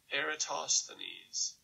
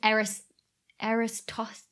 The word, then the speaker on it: Eratosthenes: Eratosthenes. Eratosthenes. Not have pronounced it that way.